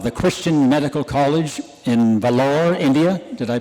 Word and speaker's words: Vellore: And recently he was a member of the academic faculty of the Christian Medical College in Vellore, India. Did I pronounce that right?